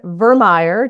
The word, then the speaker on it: Vermeire: But we have a lovely guest who is a dear friend of mine, Vermeire. Did I say it right? You did. Okay. Like Oscar Mayer, he said.